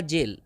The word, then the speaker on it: gaol: जेल, GAOL, इसका उच्चारण होगा जेल।